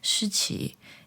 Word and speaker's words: Shiqi: In Mandarin, you can say Shiqi.